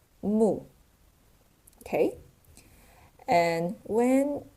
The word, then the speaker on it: 木: And it pronounced as mù.